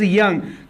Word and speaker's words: Jung: It is written as Jung but it is pronounced as Young, Karl यंग्स classification.